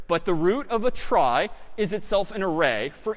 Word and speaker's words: trie: So a try, sort of a weird name in pronunciation, short for retrieval, pronounced try.